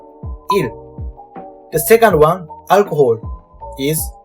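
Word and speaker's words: 일: Day is E plus L. Il.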